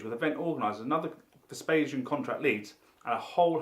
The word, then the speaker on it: Vespasian: So Vespasian Security, pronounced and reliably told as Vespasian, was started by our figurehead Mr.